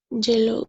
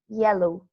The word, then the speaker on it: yellow: please excel number four it's a fruit it's jello and it is that which banana yes it starts with bee so and here pronunciation of why it's soft so we say yellow repeat yellow it's yellow yellow yeah it's soft